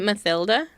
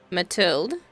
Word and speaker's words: Mathilde: No A at the end. And the TH, we don't pronounce the H. Mathilde.